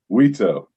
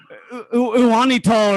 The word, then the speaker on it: Uitto: Uitto. That's it? Uitto? Because it's spelled like Uwanito or something. I was like, Uwanito. It looks like Japanese or Italian or something, but it's not at all.